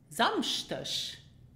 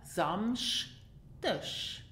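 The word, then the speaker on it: Samschdeg: So you have the paired consonants S, C, H. And these are pronounced in Luxembourgish sh, sh, samsch. Okay? And the final letters E, G are pronounced as in ush.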